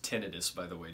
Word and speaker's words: tinnitus: It's pronounced tinnitus, by the way. Just pretend you're British and you'll nail it.